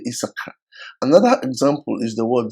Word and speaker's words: Issachar: For example, Issachar in Igbo language is pronounced Isaka, which gives us, a long a sound, which could be wrong in their own phonetics. So they will rather say Issachar.